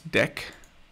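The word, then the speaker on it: deque: do from collections import i think this they want you to pronounce this deck or i don't know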